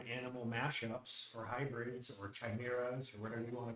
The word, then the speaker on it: chimera: details by the way did you say chimera i think it's pronounced chimera oh yeah i think it goes either way i've heard it pronounced both so and also uh that